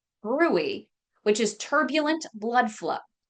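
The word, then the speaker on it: bruit: brewery it's spelled brute b rui t but pronounced Brey which is turbulent blood flow follow-up testing may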